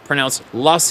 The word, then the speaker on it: Loess: Fast forward to January 2020, southwest Iowa, in the Loess Hills, pronounced Loess Hills, overlooking the Missouri River.